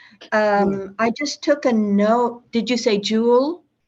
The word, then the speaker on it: Joule: pronounce his name? Jewell. I just took a note. Did you say Jewell? Yule, yeah. Yule. Okay. Jewel. No, not Yule, Jewel.